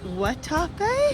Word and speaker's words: Guatapé: We're heading today to do a day trip to, I think it's pronounced Guatapé? Yeah, but it's spelled Guatapé. But it's spelled with a G.